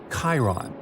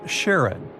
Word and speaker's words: Charon: the most mysterious one, Chiron, also pronounced Charon. So you can pronounce it however you like. I'm going to go with Charon.